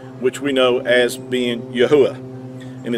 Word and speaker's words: Yahuah: the creator's name which we know as being yahuwah and it's not yahweh it's not jehovah it's not all the other variations it is yahuwah and i've done a teaching on my youtube